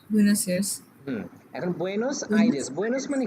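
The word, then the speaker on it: Buenos Aires: তারপরে হচ্ছে বুয়েনোস আইরেস, erase আইরেস আইরেস, বুয়েনোস বুয়েনোস আইরেস আইরে, আইরেস মানে কি? আইরেস মানে হচ্ছে বাতাস, এয়ার। বাতাস বুয়েনোস এয়ার্স হুম। এখন বুয়েনোস বুয়েনোস আইরেস, বুয়েনোস মানে কি?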